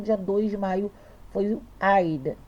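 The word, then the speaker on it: Eid: dois de Maio foi a ida se escreve aid né mas a gente pronuncia Aida Raid é nossa é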